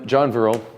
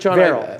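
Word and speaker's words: Favreau: nineties now you ready all right oh and John virile am i pronouncing a read John Farrell John Farrell Farrell like Farrell but fair Morgan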